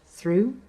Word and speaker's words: through: usual words that have so called silent letters that is letters that are not pronounced as with the final consonant cluster in the word through words in which two